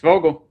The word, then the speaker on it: Vogel: is it Vogel? It's Vogle.